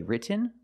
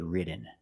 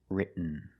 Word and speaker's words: written: So, you can say written or written. Written is more common. Just don't say written. It's written.